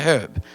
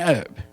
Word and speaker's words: herb: know the word herb it has an h in it it's called a herb you call it an herb right when you cook